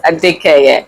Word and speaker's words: Adekeye: Did I pronounce that right? Yes. Yes, ADEKEYE.